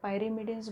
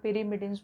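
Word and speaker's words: pyrimidines: पायरिमिडिन्स बोलो या पिरिमिडिन्स बोलो, इट इज़ अप टू you, pronunciation is अप टू यू.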